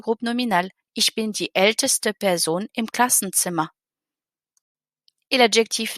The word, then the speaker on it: älteste: Donc, on va ajouter un E entre les deux, juste pour bien entendre le ST.